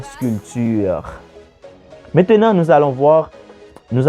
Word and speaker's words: sculpture: avec un P ok ça s'écrit avec P mais on dit pas la sculpture mais on dit la sculpture maintenant nous allons voir